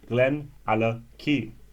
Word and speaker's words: GlenAllachie: Now, if you've not only heard of it, you know what it means and how to pronounce it. GlenAllachie.